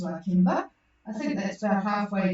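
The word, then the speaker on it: Lakeba: La Kimba, which looks like La Kiba, but it's pronounced La Kimba.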